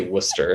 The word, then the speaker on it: Worcester: How do you supposed to say it? Worcester. I think is say Worcester. the technical pronunciation.